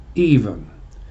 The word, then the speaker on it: aevum: A-E-V-U-M, pronounced even, like the A-E in Caesar. And when you put the